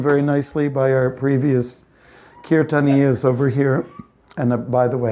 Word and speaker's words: kirtan: Of course, sometimes people say they don't pronounce it like we're going to the curtain. And I said, are you going to the drapes? It's kirtan.